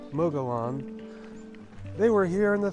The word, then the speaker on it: Mogollon: whatever also this ancient civilization that lived up here called Moga Yan they say I don't understand why it's pronounced Moga Yan because this Spanish didn't even come here until 1500s and this mogoyan which I would like to call them Mogollon they were here in